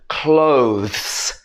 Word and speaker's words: clothes: it should be salmon next one is clothes this is a really difficult one to pronounce for a lot of different uh students should be clothes so the last part